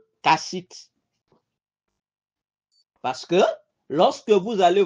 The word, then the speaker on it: Kassite: Ça s'écrit K-A-2-S. I-T-E. Kassite.